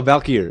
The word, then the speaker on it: Valkyr: Valkyr yeah Valkyr no Valkyr it's okay because this should mean it should be pronounced more like Valkyrie it was like Valkyr